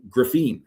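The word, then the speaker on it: Griffen: Um Ryland Griffin, I think is how it's pronounced because it's not Griffin, it's it's uh uh en at the end for&m scored all 17 of his points in the second half.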